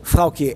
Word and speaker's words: Froukje: So, Froukje, am I pronouncing your name correctly? You're doing it very well.